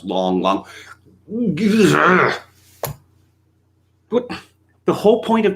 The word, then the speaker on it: Lang Lang: mal's are done deng xiaoping well actually it's pronounced dung xiaoping lang lang the famous classical penis actually it's pronounced long long but the whole point of transliteration is such